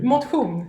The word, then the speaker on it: motion: Mothung. Yeah. Yes. So what exactly does that mean? So mothung is sports without the competition. It's spelled like motion in English, and the whole idea